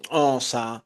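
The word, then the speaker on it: Xhosa: Eh, Kikongo, eh, Osa, así se pronuncia, es el idioma de las chasquidas, eh, sules, en fin, infinidad de etnias.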